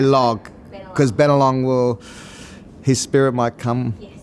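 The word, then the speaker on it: Bennelong: it right better long don't say log because been along will his Spirit might come and stir you up tonight and say my name's been along not better along um so in a separate take you will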